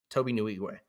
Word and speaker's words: Nwigwe: His name is it took me forever to figure out how to pronounce his name, but Toby Nwigwe.